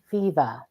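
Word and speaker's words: Fivaz: Z I think but it's pronounced fever like I got a fever for more cowbell fever and that is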